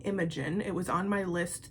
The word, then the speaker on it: Imogen: Because Imogen, I wouldn't pronounce it like Imogen. You don't need to like really enunciate that O sound. But Imogen, oh, it's so beautiful.